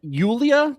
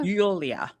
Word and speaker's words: Julia: Ulia, that's her name. Julia. Ulia. Yes. A lot of a lot of J's uh pronounced Y's.